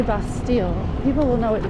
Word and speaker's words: Bastille: where it comes from you don't pronounce those two L's it's like a y That's d you could say Bastille people will know what